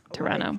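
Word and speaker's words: Pterano: Um, because it has a P in front of it, but the P is silent. Okay. Toronto podactyl.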